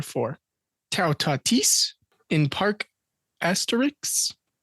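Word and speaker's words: Astérix: Tau Tatis in Park Asterix. Park Asterisk? Asterix with an X.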